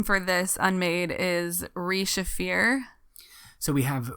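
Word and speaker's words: Re-Shephir: Another name for this Unmade is Re-Shafir. So we have Re-Shafir, the Midnight Mother.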